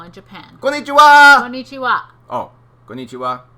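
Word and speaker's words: こんにちは: Oh, konnichiwa. Yes, it's all the same emphasis. Konnichiwa. Every syllable has the same emphasis. No getting excited about it.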